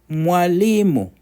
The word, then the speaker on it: mwalimu: Mwalimu, mwalimu, so 3 syllables.